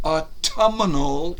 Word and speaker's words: autumnal: And officially, it is called the autumnal equinox. Autumnal. What do you hear in that? Spell it for you?